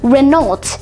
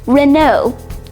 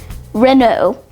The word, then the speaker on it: Renault: It's commonly mispronounced Renault, but it's actually pronounced Renault. Yep, Renault.